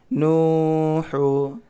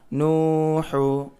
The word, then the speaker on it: نوح: مشق: نون واو پیش نو، ہا پیش حو، نوح. زبر زیر پیش کو تھوڑا بنا کھینچیں، صرف واو مدہ یا مدہ الف مدہ ہے تو تھوڑا کھینچنا ہے. نوح. نون واو پیش نو، ہا پیش حو، نوح.